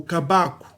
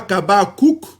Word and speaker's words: Kabaku: Ce n'est pas Kabakouk avec le Q à la fin, le kof. Mais vous voyez que le kof ne se prononce pas, donc il est resté Kabaku.